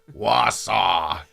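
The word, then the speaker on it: Wausau: the big city of Wasa wasw Wasa that's really how you pronounce it too yeah and we were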